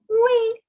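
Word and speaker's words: oui: after me all right the spelling is o-u-i pronunciation is we okay and no is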